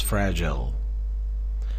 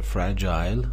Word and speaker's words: fragile: It is fragile. این کلمه دو تا تلفظ داره. Fragile British هست. Fragile امریکایش هست.